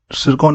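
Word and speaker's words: Tsirkon: है ठीक है दोस्तों इसका सरकन इसे कहा जाता है टी यहां पे साइलेंट होता है तो सरकन इसका नाम है ठीक है व्हिच ऑफ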